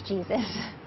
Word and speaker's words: Jesus: old Carolina Jesus yeah my last name is Jesus yep that's how she pronounces it she's been doing her